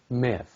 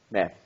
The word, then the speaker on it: með: Okay, but it's that? Með. No, með. Með. Ah, Með. Með. Með. með. Já.